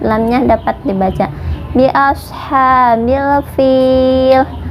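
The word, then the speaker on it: فيل: Bi ashabil fil. Fil ini dibaca panjang 2, 4 atau 6 harokat, terserah ya, asal konsisten dari awal sampai akhir. Kalau mau 2 semua, kalau mau 4 semua, kalau mau 6 harokat semuanya ya.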